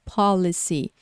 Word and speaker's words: policy: até em maiúsculo aqui o começo da palavra para você saber que ela é pronunciada de forma mais forte então policy uma coisa importante é